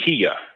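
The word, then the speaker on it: قياس: a minute but there's there's a something called Kia k q q i YH Kia is uh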